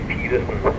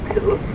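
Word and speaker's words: Petersen: So you actually don't even say Peterson in Danish, you say Pedersen.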